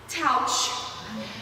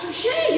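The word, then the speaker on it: touché: Touch. It's pronounced touche.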